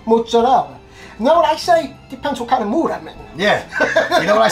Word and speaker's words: mozzarella: And she says it's not fresh mutz. It's not mutz, it's mozzarella.